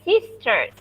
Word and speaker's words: sister: R-nya dibacanya tipis sekali, lidahnya diulungkerin ke atas. Sister.